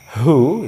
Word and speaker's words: who: Cara membacanya W-nya tidak dibaca, langsung ke H. Who, ya, siapa?